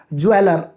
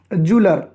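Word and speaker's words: jeweller: इसको अक्सर गलत प्रोनाउंस किया जाता है और लोग कहते हैं इसको ज्वेलर, ज्वेलर, जो कि रॉन्ग प्रोनाउंसिएशन है, कंप्लीटली रॉन्ग प्रोनाउंसिएशन है। और इसका जो सही प्रोनाउंसिएशन है वो है जूलर, जूलर।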